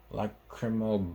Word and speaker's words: lacrimal: The lacrimal bone. That's how you pronounce it.